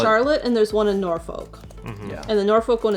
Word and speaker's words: Norfolk: Also, the folks that are from Virginia really hate it when I pronounce it as Norfolk. They really want it to be Norfolk. Norfolk.